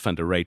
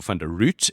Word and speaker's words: van de Ruit: and you know what I would be root that's what I was called at school root at my first geography class the teacher was going through mispronounced your name mispronounced fund a rate for fund root and then obviously everyone